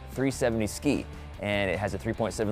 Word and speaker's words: 370Zki: and that's pretty cool it's called the 370z ki pronounced 370 ski and it has a